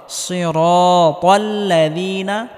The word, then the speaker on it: صراط: সিরাতাল্লাযীনা আনআমতা, এখানে আইন গলার মধ্যে হালকা চাপ দিয়ে উচ্চারণ করতে হবে।